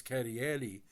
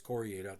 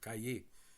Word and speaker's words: Carrier: from the family genus Carrieri, which is Italian-French from 1600s. So, by the way, it's not Carrier, it's Courrier, or Cahier, depending on pronunciation.